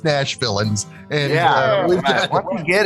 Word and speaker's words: Nashvillains: group's name this time it's not the nashvillians it's just Nash villains and yeah once you